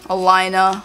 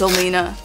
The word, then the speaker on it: Alina: mispronounce my name cuz they say like Alina Elena Elena it's Alina Alina Alina and then they also